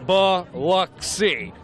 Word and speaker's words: Biloxi: some of them actually say the pronunciation ba luck see cruising Biloxi Stingray so